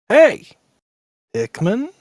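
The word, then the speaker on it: Hey! Pikmin: in VR as well on the other hand hay Pikmin is a game that I played please say it correctly hey Hickman thank you okay the official mail yeah with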